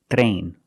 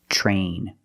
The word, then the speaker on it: train: When you have TR together in any situation, you can pronounce it ter, but usually we don't. We pronounce it ch plus the R sound, chur.